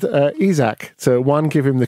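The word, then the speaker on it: Isak: even though he can alexander isaac not chris isaak sorry it was a wicked game that's why I said a Zack so one give him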